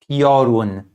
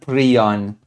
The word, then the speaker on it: Piorun: And you pronounce it Piorun. Okay? Piorun, not Prion.